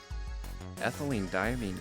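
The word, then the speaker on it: ethylenediamine: Ethylene diamine tartrate. I like that he got damine pronounced correctly.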